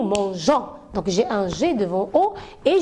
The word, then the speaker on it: mangeons: je laisse comme ça le mot je vais lire nous mango et moi j'ai besoin de dire nous mangeons donc g1 g2 vaux